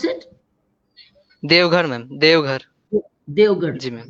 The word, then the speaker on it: Deoghar: How do you pronounce it? Deoghar, ma'am.